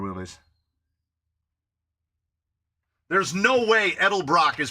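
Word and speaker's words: Edelbrock: people say Elder Brock I heard Vic edel Brock say edel Brock there you go is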